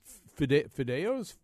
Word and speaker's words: fideos: I did encounter a concept in this cookbook that I just am completely words that I'm not familiar with, including fideos.